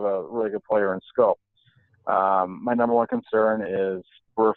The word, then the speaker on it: Schoop: guilty that Gregg I was pronouncing it Shoop until today so pepper song and